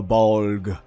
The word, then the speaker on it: Bolg: be bolg dance for bog one syllable bulk but it's so cathartic i love saying it maybe because it's similar to bulge you know let's not